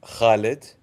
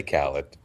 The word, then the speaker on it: Khalid: It's pronounced Khalid, but if you cannot pronounce it, you can just say Khaled.